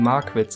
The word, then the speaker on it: Magwitz: Wahrscheinlich spricht man ihn Magwitz aus, weil Magwitz, er mag Witze.